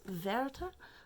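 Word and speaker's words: Werther: sorrows of young verta yeah it's verta so now i'm that's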